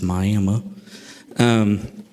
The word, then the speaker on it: Miami: That's how you say it in Oklahoma, is Miami.